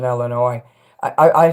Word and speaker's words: Illinois: I hate when people pronounce the S in Illinois.